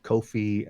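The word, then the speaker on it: Ko-fi: now with patreon and Kofi and I think that's how you say it right ko ko - fi coffee yeah yeah it's possible for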